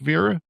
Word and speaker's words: Veera: Did I get your name correct, VEERA? Yes, you did. Correctly pronounced, yes.